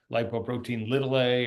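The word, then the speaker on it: lipoprotein(a): word light Bo protein lower Casa but we pronounce it lipoprotein ltil a or lipo or LP ltil a it needs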